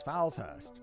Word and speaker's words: Falshurst: the name of Thomas Falshurst. The name is spelt slightly differently from the Sheriff Falhurst, who had Thomas Hayward arrested for witchcraft, but it's pronounced exactly the same.